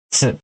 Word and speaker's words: tsu: Yaitu chi dan tsu. Chi dan tsu. Ya, dua huruf ini kalian harus ingat, ya. Dan harus kalian hafal, ya. Jangan kalian menyebutkan ti sama tu ya, karena dalam bahasa